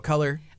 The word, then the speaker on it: Kolor: get your tickets there it's pronounced the same way though color what is that is